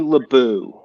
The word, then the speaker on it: LeBeau: little blue I think it's Remy LeBeau like be ei you like bow almost you know you like